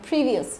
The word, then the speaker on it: previous: Đấy, previous trọng âm đầu tiên nhé, previous.